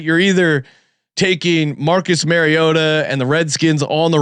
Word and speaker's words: Mariota: actual pronunciation is, and he says Mariota, or at least that's how I hear it. So Mariota. Mariota. Mariota. That as long as you say Mario, you'll get it right.